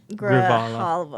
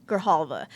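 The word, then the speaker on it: Grijalva: So, um, Adalita Gravala Grahala Grahalva.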